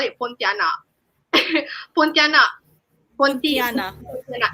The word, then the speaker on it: Pontianak: Pontianak Mm-hmm.